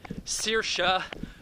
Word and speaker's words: Saoirse: God damn it, Saoirse Ronan.